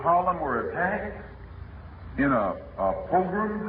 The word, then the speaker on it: pogrom: Concerning the Harlem incident that took place during the summer, when the citizens of Harlem were attacked in a pogrom, how do you pronounce that word? Pogrom?